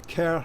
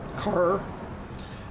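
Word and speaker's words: Kerr: the castle of the cair family k-e-r-r which is how it's pronounced not car uh sorry it's a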